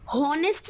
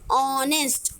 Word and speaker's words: honest: व्यंजन में आता है, बट एच इसमें ध्यान से बोलिए, हॉनेस्ट नहीं बोलते इसको। एच साइलेंट है, एच is silent in this. किससे शुरू, किसकी आवाज आ रही है? आ, आर, है ना? HONEST में किसकी आवाज आ रही है? ऑनेस्ट, ऑ, है ना?